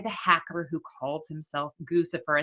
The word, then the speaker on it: Guccifer: is actually oh it's crucifer so Goose I'm assuming rhymes with Lucifer but whatever um in